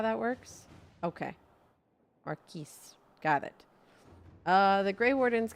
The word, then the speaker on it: Marquis: Marquis. The E after the S means you should pronounce it. Is that how that works? Okay. Marquis.